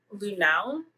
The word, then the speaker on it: Lunau: My next one is Untouchable by Kay Simone and Ruthie Lunau.